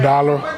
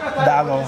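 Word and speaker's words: Daalụ: Dalo. Dalo.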